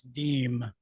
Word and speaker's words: Deem: It's Deem. It's Pennsylvania Dutch. It's hard to pronounce.